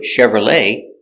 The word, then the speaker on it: Chevrolet: examples we see with the word Chevrolet we have the CH pronounced Chevrolet and we have the ET pronounced a Chevrolet or you can say